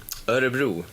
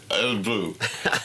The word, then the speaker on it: Örebro: How's it pronounced? Örebro? Örebro. Örebro.